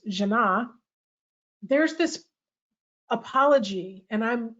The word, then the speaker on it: Jina: j i n a people almost universally call me Gina when they first meet me and then when I let them know oh my name is pronounced janah there's this apology and